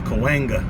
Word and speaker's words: Cahuenga: whole Chumash Indian word you can always tell someone's not from LA when they cannot pronounce that Street I've heard that Street pronounced about four or five different ways but you out-of-towners it's Kalinga and I think you